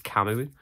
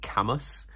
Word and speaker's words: Camus: the like words I had to say was kamu as in the philosopher um but I'd only ever read it I'd never heard anyone talk about it so I pronounced it Camus and then the recorder very nicely kind of